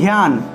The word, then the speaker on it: ধ্যান: আর একটা উদাহরণ দিই, ধ্যান, ধ্যান, ঠিক আছে? এই ধ্যানের ক্ষেত্রে কীভাবে উচ্চারণ করবো আমরা? ধ্যানের ক্ষেত্রে ধিয়ান, ধিয়ান, ধিয়ান, ঠিক আছে? এভাবে উচ্চারণ হবে, ধিয়ান, ধিয়ান।